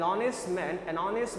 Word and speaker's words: honest: ठीक है, an honest man because basically the pronunciation or sound of we have is basically vowel sound, not honest, is honest.